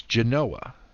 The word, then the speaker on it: Genoa: city to the south of Lake Geneva it's Genoa we don't pronounce the town of Delevan as Delavan its